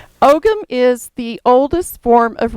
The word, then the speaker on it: Ogham: Some people pronounce it Ohm. I pronounce the G, just personal preference. Now, if I lived in Scotland, I'd probably be corrected. Ogham is the oldest form of writing in Ireland and Scotland.